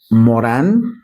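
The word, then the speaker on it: Morin: tenido la UNESCO llamado Edgar Morán, se escribe Morín porque es de origen francés.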